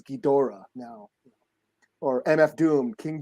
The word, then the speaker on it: Ghidorah: you know Thanos Thanos or ghidro like it was King ghidra all my life until like I heard the Japanese say it's Ghidorah no or MF Doom